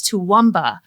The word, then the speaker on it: Toowoomba: Well, like we have a our Toowoomba salmon and so when people go to pronounce they're like, "Ah." And I'm like, "It's Toowoomba."